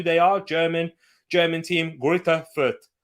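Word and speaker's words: Greuther Fürth: got we've got quite a few we've got grit effert fans and if you don't know who they are german german team gritter foot it's actually pronounced gritter for oh mainzy magnus sorry so yeah that's what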